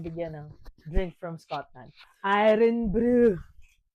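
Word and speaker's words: Irn-Bru: Iron Brew. Iron Brew is a drink from Scotland.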